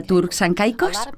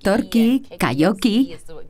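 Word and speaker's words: Turks and Caicos: y tranquilo Dónde está turk San cicos muchos no saben dónde se encuentran estas Islas y no lo pronuncian Bien dicen turqu torki koki pero estamos a 1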